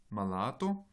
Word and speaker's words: malato: Donc, dans le premier exemple, malato, vous avez un accent sur la deuxième syllabe.